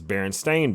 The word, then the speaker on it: Berenstain: not berenstain bears it's berenstain beerus they spell completely different than what everybody remembers b-r-n-s-t-e-i-n right it's a-i-n according to yeah not even pronounced berenstein it's berenstain nobody remembers this but that's